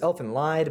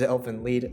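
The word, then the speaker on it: Elfen Lied: through four of elfin lead i used to pronounce this elf and lied but the correct pronunciation is elephant lead um so if you've ever heard me say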